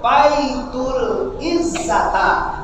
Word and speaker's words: Baitul Izzah: Ulama lihat Quran sebelum tiba di dunia terletak di Baitul Izzata. Bacanya Baitul Izzat.